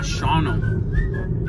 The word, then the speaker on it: Shawano: en el pueblo de shono se escribe shawano pero se pronuncia shono y Miren qué vistas